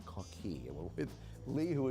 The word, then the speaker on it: Coquille: We should say, actually, before we introduce the guy beside us, Coquille, or some people may see when they see the sign Coquille, but it is pronounced Coquille.